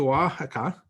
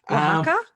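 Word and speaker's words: Oaxaca: But once he got to Wajaka, which I think I've pronounced that correctly, waka waka the X.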